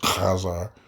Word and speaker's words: Khazar: Did the Kazerians, Kazerians, whichever way you want to pronounce it, Khazar, you got to do it from the back of the throat.